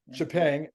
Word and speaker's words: Xpeng: How do you pronounce their name? Xpeng.